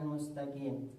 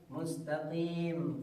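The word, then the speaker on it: مستقيم: Kemudian untuk bersikat waktu di huruf selanjutnya itu huruf qaf mustaqim. Kebanyakan orang mengucapkannya mustaqim, huruf kaf dibacanya.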